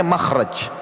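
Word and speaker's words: مخرج: akan ada tulisan mim, kha, ra, jim. Bacanya makhraj.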